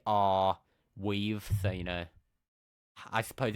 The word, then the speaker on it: Arweave: In favor of Arweave, or how do you pronounce it? Do you guys know? Arweave? Are we? I've been calling it Airweave myself, so Yeah, I don't know. It's AR Weave, so I suppose it's Arweave.